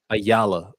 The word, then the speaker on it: Ayala: Is it Ayala? Am I saying it right? Ayala.